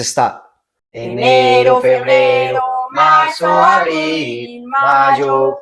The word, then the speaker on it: mayo: Enero, January, Febrero, February, Marzo, March, Abril, April, Mayo, May. May in Spanish, you're gonna replace the Y with a J, so you have the correct pronunciation in Spanish.